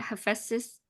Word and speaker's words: Hephaestus: Yeah, Hephaestus.